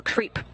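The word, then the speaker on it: KREEP: a weird component that we call creep. And it's spelled K-R-E-E-P, and it stands for potassium, rare earth elements, and phosphor.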